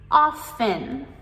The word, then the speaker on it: often: We have the T as a silent letter and we just pronounce the off and often.